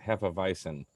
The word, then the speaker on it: hefeweizen: porter for the win except it's pronounced hepavisin the w i'm sorry